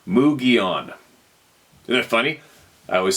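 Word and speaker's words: Mogollon: in the mountains of Arizona and the Mulan pronounced mugon isn't that funny I always say my my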